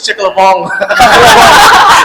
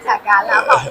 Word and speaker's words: chả cá lá bỏng: You make it sound like French. Chick-a-la-bong. Oh, wow. Is that French? How would you Oh my God. the authentic pronunciation? chả cá lá bỏng.